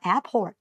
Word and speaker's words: Airport: Airport อ่า ตัว นี้ อย่า ลืม ว่า ต้อง มี เสียง ตัว T ด้วย นะ Airport นะ คะ หนู จะ